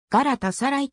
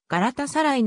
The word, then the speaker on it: ガラタサライ: シム本と呼ぶ柄とさらいは複合語であるためそのように発音されるガラタサライときって発音するのは誤りでありガラタサライのように非常に短い間をあけて発音しなければならない uefa のホームページ